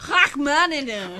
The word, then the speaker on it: Rachmaninoff: How's it actually pronounced? Rachmaninoff. Rachmaninoff. You need more of the phlegm.